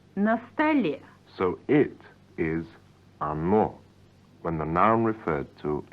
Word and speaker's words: оно: So it is оно, when the noun referred to is neuter. Yes, or no, pronounced оно.